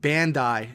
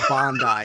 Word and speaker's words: Bandai: And now I'm starting to get comments on the YouTube stuff, like it's pronounced Bandai, not Bondi.